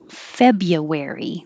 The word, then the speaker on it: February: for diversity or diversity february we make this shorter a little easier instead of february that's that's a lot